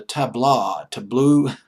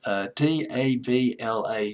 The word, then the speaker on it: tabla: He played an instrument called the tableau. Boy, I'm having a pronunciation hemorrhage tonight. Tabla.